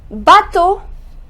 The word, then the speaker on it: bateau: um Guto which means a knife next ah bateau a Botto which means a boat ah shuttle